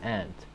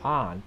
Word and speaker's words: aunt: His pronunciation does align with the general American dialect, which is aunt. The pronunciation of aunt or similar is mostly reserved to Commonwealth countries.